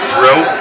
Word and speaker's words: Bro: Is that the pronunciation we've come to? Is bro? That is bro is bro. the correct pronunciation. Bro? Bro. Okay. Like Bro and Martino.